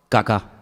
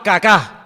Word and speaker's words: Kaká: muy feo, se llamaba Kaká. Menos mal que tenía el acento ahí. Si llega a tener el acento en otro lado, peor todavía. Se llamaba Kaká.